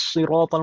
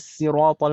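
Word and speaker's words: صراط: Satu mengatakan ihdinas siratal mustaqim pakai shad, satu lagi mengatakan ihdinas siratal mustaqim pakai sin.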